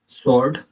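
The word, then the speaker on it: sword: W silent letter क्या है, एस के बाद डब्ल्यू साइलेंट होता है, एस के बाद डब्ल्यू साइलेंट होता है। एग्जाम्पल देखेंगे आप, आंसर, स्वॉर्ड।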